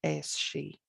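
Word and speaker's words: Aos Sí: be aos a separate word s i father ascii and within the modern irish language we would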